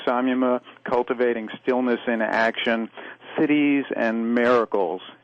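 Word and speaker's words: siddhis: cultivating stillness in action cities and miracles and by cities i don't mean big gatherings of people it's it's spelled s-i-d-d-h-i-s and in sanskrit it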